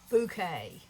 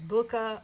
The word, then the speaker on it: Bokeh: Okay, so this is a technique called Bokeh. And I looked up how to spell it. It's Bokeh. I always thought it was Booka or, I always try to make something fancy out of something that's regular.